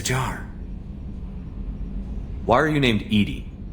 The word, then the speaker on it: EDI: airlock is a jar why are you named Ed Ed is the phonetic pronunciation of Ed that is an acronym for